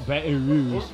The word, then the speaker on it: Baton Rouge: Baton Rouge.